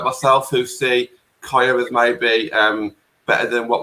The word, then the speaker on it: Kyah: Is that how you pronounce it, Ben? Is it Kyah? Kyah Simon, yeah.